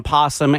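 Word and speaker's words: opossum: Osum O is silent. You just say possum.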